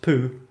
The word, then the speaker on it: pu: Pu, pronounced poo, or poo, and Winnie the Pooh.